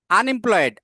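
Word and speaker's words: unemployed: আনএমপ্লয়েড, আনএমপ্লয়েড, আন ইউ আগে আছে কিন্তু ইউ এর উচ্চারণ ইউ এর মতো নাই, আন, তাহলে এখানে অ্যান হবে।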